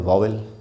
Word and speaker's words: vowel: वोवेल। इसका जो सही उच्चारण है वो है व छोटा उ, आधा औ और ल। वोवेल।